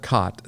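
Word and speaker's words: khat: much like cocaine and the drug is called cot spelled with a k k h a t they would chew the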